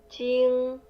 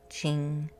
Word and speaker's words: Jing: Jing. Jing. Jing. The J sounds kind of like CH a little bit.